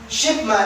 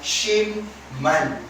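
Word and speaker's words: 십만: Pero itong shipman ang proper pronunciation niyan ay shimman.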